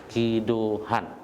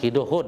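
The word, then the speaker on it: Ki Do-hoon: Makanya dia ambil klipnya dibintangi oleh aktor Ki Do Han ya. Ki Do Hoon ya bacanya, Ki Do Hoon dari SM Entertainment.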